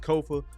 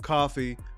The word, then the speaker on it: Kofa: I am your humble host, Kofa, K-O-F-A, not coffee, not kufu, not Kofi, or any variation thereof. Kofa rhymes with sofa.